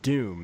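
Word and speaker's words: Dume: It says Jedi Knight and Doom. Is that how you pronounce it, Eric?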